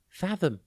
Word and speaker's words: fathom: tv today's word is fathom it is pronounced and it is spelt f a t h o m think fat and then hom fathom has two meanings